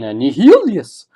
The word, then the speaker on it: Nihilus: Nihilus. Yeah, there's a H in the middle of that. Yeah, if you want a phonetic sound pronunciation, Nihilius.